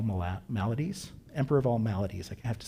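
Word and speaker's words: Maladies: Emperor of all malades I have to say it right.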